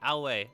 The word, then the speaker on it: Aoi: That's how we figured it out. It's pronounced that way. Aoi.